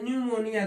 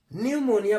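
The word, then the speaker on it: pneumonia: होता है ऐसे ही पी एनई यू एम एन एम ओ एन आई ए इसको पढ़ते हैं निमोनिया पढ़ते न्यूमोनिया देखिए यहां प भी क्या होता है पी साइलेंट हो हो जाता है न्यूमोनिया पढ़ते हैं पी न्यूमोनिया नहीं पढ़ते ऐसे ही पी एन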